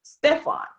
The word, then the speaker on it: Stephen: So your name is Stephen, but it looks like it's pronounced Stefan.